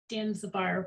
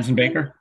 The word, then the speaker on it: Danzenbaker: And I know, Jeff, you know Jim Danzibar, right? Is that how you pronounce his name? Danzenbaker.